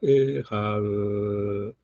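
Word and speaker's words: אחד: Uno, para meditar, sí puede extender la palabra ehad, pero para decirlo debe ser rápido. Ehad. Porque estamos hablando de la Aleph y cortar su pronunciación no debe ser lento para nada.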